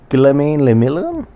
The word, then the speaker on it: Guillaume Le Million: If it doesn't rhyme, you're not pronouncing it right. Guillaume Le Million? Perfect.